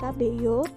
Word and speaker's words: Cabello: unik seperti penyanyi Camila cabeo nah Camila cabello ini sangat unik terutama di telinga orang Jawa karena Nama belakangnya berbunyi KB Iyo yang mirip dengan kata-kata kabeh yo sehingga mudah untuk diingat